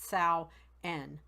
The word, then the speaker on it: Samhain: spelled s am h AI n but it's pronounced Sal N was a the third harvest festival of the